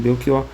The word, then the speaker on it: Belchior: Só por alguma razão especial é que se lerá beqor como Bequior mesmo. Parece, ou seja, com que parece ser este o caso do cantor Bequor, cujo nome se pronunciava realmente com K.